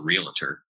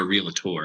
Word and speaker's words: realtor: know rocking on social media with as a realtor um or realator I have to say it correctly or real